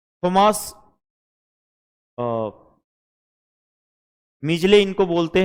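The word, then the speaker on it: Midgley: हम डी को साइलेंट पढ़ते हैं और शॉर्ट फॉर्म में हम मीजले बोलते हैं इसको, डी यहाँ पे एक्सेंट में नहीं लिया जाता है।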